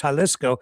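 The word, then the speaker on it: Jalisco: Some people say haliscoco. Other people say yaliscoco. I hear chaliscoco, which I've pronounced it as the other night. And then when Angie was on the program, she said it's chaliscoco, which I think is actually more correct.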